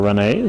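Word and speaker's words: Renna: It's spelled R-E-N-N-A, which I would pronounce Rena, but they're calling her Renee, so we'll concede and call her Renee.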